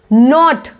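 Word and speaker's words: knot: नॉट, किसी guard को क्या बोलते हैं, नॉट, के साइलेंट है।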